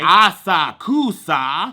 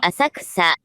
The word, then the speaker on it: Asakusa: I'm gonna be saying some of these names wrong, and I'm probably gonna put the actual pronunciation over myself, okay? Asakusa. Asakusa.